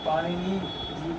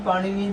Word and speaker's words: पाणिनि: विद्वान पाणिनि जी को पाणिनि जी को ये पाणिनि जो ये न और ये न है ना ये दोनों नासिक उच्चारण है। नासिका से होता है इसका उच्चारण।